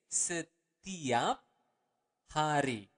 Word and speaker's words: setiap hari: Every day is setiap hari. Okay, let's repeat it again slower. Setiap hari. Again, you want to pronounce the word R clearly.